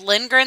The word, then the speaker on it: Lindgren: But the thing that gets me with Lindgren though is it's my stepdad's last name. So everyone's misspelling it or mispronouncing it, and I'm like, it's Lindgren, Lindgren, Lindgren.